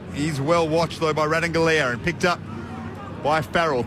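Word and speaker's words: Ratugolea: Incidentally, Asava Radanglia is how he's been called a lot, but he has said recently the correct pronunciation of his surname is Radanglia, and that's how he would like to be called.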